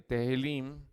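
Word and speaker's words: Tehillim: ¿Se acuerda que les dije que era, perdón, no Tahilim, Tehilim, que es T-E-H-I-L-L-I-M, Tahilim, Tehilim, T-E-H-I-L-L-I-M, que, hermanos, significa cantos, alabanzas o simplemente, hermanos, alabanzas en el hebreo.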